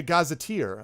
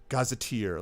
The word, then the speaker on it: gazetteer: I never heard it I've never heard it pronounced so I thought it was either like it looks you know Gaza tear like why would I